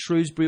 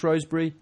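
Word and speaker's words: Shrewsbury: weekend we got a consensus over whether that's shrewbury or rosbury rosbury shwy if you from around there rosbury if you can't say it right I think it's shwy as well yeah it's not a sh is it no it's shrewbury Tech well you can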